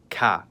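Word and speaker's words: К: In English, it's known as K and in cerillic, it's called CA.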